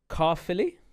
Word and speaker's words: Caerphilly: Uh our last story of the day is I'm going to get try and get this pronunciation right. Uh folks in Wales, uh forgive me, don't at me. Carilly, is that right?